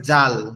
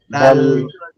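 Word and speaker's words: ذال: ডাল দাল দাল ডাল অক্ষর হচ্ছে জাল, দাল জাল। জাল অক্ষরটা দাল। কিভাবে উচ্চারণ হবে? জাল অক্ষরটা আমাদের জিহ্বার আগা সামনের দুই দাঁতের আগার সঙ্গে লাগবে, জাল জাল জাল দাল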